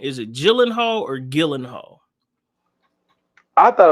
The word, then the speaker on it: Gyllenhaal: brother yeah y okay yeah so it's it's Gyllenhaal for sure but it's starring um Jake Gyllenhaal